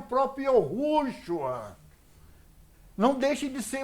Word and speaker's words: Yahushua: Na realidade, é Yahushua.